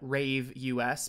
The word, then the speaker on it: Ravus: from some website called ravus and it turns out uh first of all that they want you to pronounce that Rave us but I will be